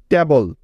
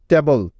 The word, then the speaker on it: table: টেবল। TABLE। টেবল। টেবল। টেবিল নয় কিন্তু এটার উচ্চারণ। তাহলে কিরকম হবে উচ্চারণটা? টেবল। টেবল।